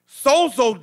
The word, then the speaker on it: sozo: my mind it's a greek term called sozo it's spelled s-o-z-o sozo when you pray you are creating an